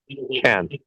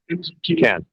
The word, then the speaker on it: Cannes: You're at you're in Cannes, but is it Cannes or is it Cannes? Can. Cannes. Okay. Can. Because there's a lot of debate about that. And I know so it's There is. the locals say, Can.